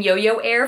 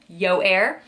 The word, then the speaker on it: Yoyair: I was saying Yo-Yo Air for a while, but then I realized it's Yoyair.